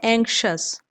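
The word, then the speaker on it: anxious: इसका प्रोनाउंसिएशन होता है एंक्शस।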